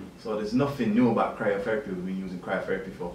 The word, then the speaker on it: cryotherapy: your career-wise sports i repeat how would you pronounce it so it's cryotherapy c-r-y-o therapist or cryotherapy so okay basically we're split into two and